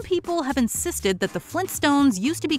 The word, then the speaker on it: Flintstones: This belief persisted even though their theme song repeats the sharp T pronunciation. To be fair, we can see how kids might have dropped the T in Flint because it was easier to say.